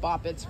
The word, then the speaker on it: boppets: I'm not sure why they call it boppets. Rhymes with poppets.